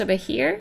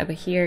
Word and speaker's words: Behir: to create a monster I think it's pronounced over here I'm sure if you want afresh me feel free to in the comments below but I'm just gonna be calling it over here cuz that's what I